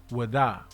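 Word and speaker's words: Ouidah: up shop in this town named Ouida, pronounced by the locals as Wada.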